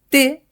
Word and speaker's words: té: La diferència entre aquestes dues paraules es troba en la pronunciació de la vocal, que en el primer cas, 'te', és oberta i en el segon cas, 'té', és tancada. Fixa't que quan les pronuncio, l'obertura de la boca canvia.